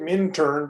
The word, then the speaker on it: Minturn: the Rio Grande, the Minturn. It's spelled Minturn, but it's called Minturn by the railroad people, and that's where the engine facility is, and I store equipment there.